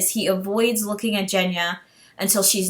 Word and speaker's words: Genya: with these words changing like jenya i was pronouncing it genya and it's jenya so i have to correct myself so mal